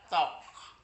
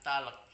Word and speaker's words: talk: tidak perlu dibaca contohnya t a l k bacanya tok tok bukan talek kalau talek kan itu